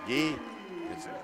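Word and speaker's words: Gui: Guy, it's a French name. G-U-I. Guy is how they say it.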